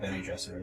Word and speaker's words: Bene Gesserit: Bene Gesserit or whatever, I don't know how you pronounce it. Gesserit. I'm sure there's a bunch of different ways. In the audiobook they pronounce it Bene Gesserit.